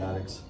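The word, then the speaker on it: Adicts: I call them the Addicts because of the way it's spelled, but it's the Addicts.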